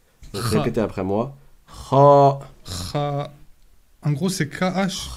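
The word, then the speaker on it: خ: Je dis pas khe, mais je dis kha.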